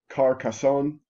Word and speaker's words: Carcassonne: Carcassonne, it's actually Carcassonne.